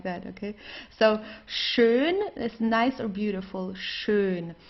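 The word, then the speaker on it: schön: no hushed or anything like that okay so shun is nice or beautiful shun here you have an S it's pronounced exactly the same way as the sh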